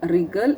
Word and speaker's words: wriggle: In the box 3, I have read wrinkle, wriggle, and right. Okay, I have not made W wrinkle. I have not said W wriggle. Not said again. Not I have told W right. The W is silent.